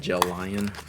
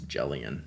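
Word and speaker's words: Gelion: to the pilot G2 gel lion oh I never know how to say that word how do you say that word jellian it looks like gel lion but it's jellian which is the stupid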